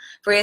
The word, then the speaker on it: Freyja: them a little bit Freyja says you've got it that's how you say my name yes and she says yep